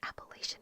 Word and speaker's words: Appalachian: Appalachian mountain range but apparently it's actually Appalachian uh the people here were like why are you saying it wrong it's appalachin and they were like um if you say it wrong we'll throw an Appalachia